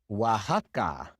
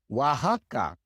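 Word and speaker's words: Oaxaca: The same with Texas Teas or Wajaka. Wajaka. Especially in Mexico, there are many place names that are spelled with an X but is pronounced like an H in English.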